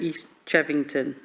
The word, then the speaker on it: East Chevington: I think from what Councillor Dickinson said, it might have answered my question, but I was just checking that East Chevington, that's how it's pronounced, they're happy with this altered proposal.